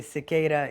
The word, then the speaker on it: Siqueira: My last name is pronounced Cicada, like the bug. It's very different from the way you write it. And a lot of Americans will say, oh, I can't roll my R's. But then if you say Cicada, you're actually saying the way that we say my name in Brazil.